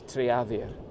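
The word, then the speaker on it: Trearddur: So I checked with him and it's Triadir.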